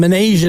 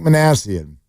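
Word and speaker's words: Minasian: us the uh the exact who was the pronunciation sensation. We were calling him Manasian up until that point. Yeah, Zach Manassian.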